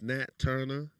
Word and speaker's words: Nat Turnher: It's Nat Turnher. It's spelled NATTURNHER 88.